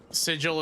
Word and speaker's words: Sigil: I I think Sigil is a really cool like local I also I swear I'm probably upsetting people with how I'm pronouncing that. Especially because in Plscape Torment it's pronounced as sigle.